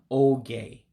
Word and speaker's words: oge: So when you see an E, for instance, like E for Edward, pronounce that as an A, like Anthony, like my name. So that's why I'm saying oge for time.